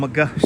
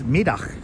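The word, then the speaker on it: Middagh: Walking down McGuh streets. Us Brooklynites call it well, it's pronounced in Dutch as Middag streets, but people here in Brooklyn Heights call it McGuh streets.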